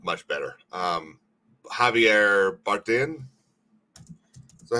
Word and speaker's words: Javier Bardem: Javier Bardem, that how you say his name? Yeah, Javier Bardem.